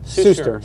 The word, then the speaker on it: Suster: Did I pronounce it right? Suster, yeah. Suster.